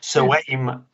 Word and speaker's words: Samhain: Halloween as it was in its true form, Samhain, I think it's pronounced.